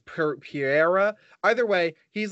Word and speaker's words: Pereira: Michael, I always pronounce his name wrong. It's Pereira.